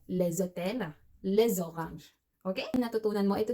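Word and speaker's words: les hôtels: Kaya naman pag plural na hotel, maraming hotels, the hotels in French we say leszotel.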